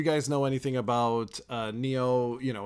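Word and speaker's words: Nioh: How do you pronounce this name? Neo.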